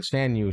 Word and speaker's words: Shan Yu: Shan Yu, yeah.